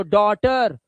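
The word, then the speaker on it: daughter: तो डॉटर नो नो टी नॉटी जी एच टी को सिर्फ ट पढ़ना।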